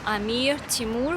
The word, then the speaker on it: Amir Timur: like words amir timur when you have r in english you do not pronounce r that strongly and in russian and uzbek language as well if you see r you need to say very strongly and that's definitely going to be correct like amir timur so